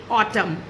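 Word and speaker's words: autumn: जब एम और एन साथ में आते हैं तो एम के बाद एन हो जाता है साइलेंट, जैसे ऑटम या कॉलम।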